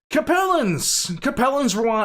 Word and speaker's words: Capellans: Capellans rhymes with capricious.